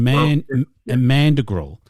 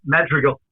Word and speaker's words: madrigal: Well, and mandrigal. 3 words I've never. Madrigal. Yes. Madrigal, is it? Madrigal, not mad.